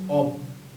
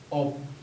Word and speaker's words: of: ও এফ যেটা থাকবে এটার মিনিং হবে হচ্ছে অব, স্বরেও ব, অব।